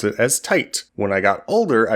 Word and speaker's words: Tite Kubo: When I was a kid, I would pronounce it as Tite. When I got older, I realized, wait, that's not how Japanese words and Japanese names are pronounced when they're spelled that way.